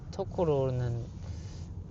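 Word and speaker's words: 野老: 하여튼 그 중에 어려웠던 한자들도 좀 있었는데 토코로라든가 토코로는 야생의 야자에다가 노인 노자 그래서 토코로라고 읽어요.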